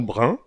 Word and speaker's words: bren: du brun à l'origine le mot brun s'écrit Brem et se prononce brun comme dans le mot moyen ou examen le Brenne est un